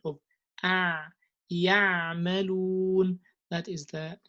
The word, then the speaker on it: يعملون: And you would say something like ya'malun. It's not ya, it's ya'malun. Do you see this this sound of ya'malun?